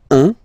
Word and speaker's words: un: Okay, then un. All right, so when you combine this u and n, you get the nasal sound un, un.